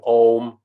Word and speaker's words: om: about people doing om well this is the om thing you know the buddhist mantra but he stretches out into four distinct syllables to really get the resonant frequencies and they resonate in different levels ah is resonating up higher all right lower mmm resonating lower and then ma takes you back up again so it